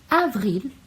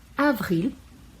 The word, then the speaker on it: avril: Février, mars, e a gente pronuncia o S, mars, avril, com L bem pronunciado, avril, mai, aí com som